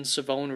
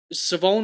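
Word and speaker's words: Shavon: the N but njoku savone raval just pretend the H does not exist at all apparently is how it is pronounced and it's an a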